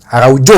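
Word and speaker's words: Araújo: penukaran Barcelona mau menukarkan Ronald Ar arauo araujo ya bacanya Ya dan FR De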